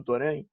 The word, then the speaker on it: Torrent: Mas a gente ainda vai falar mais disso no programa também, que o Torrent, já mudei a pronúncia, né? Torrent, enfim.